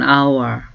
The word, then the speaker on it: hour: our 한 시간이라는 말인데 어를 쓰지 않고을 쓴 거는 아라는 단어가는 무음이에요 안 읽혀요 그래서 오 발음이 먼저 모음이 발음이 되기 때문에가 아니고라는 걸 알아두세요 그래서 takes an hour 한시간 걸려 it takes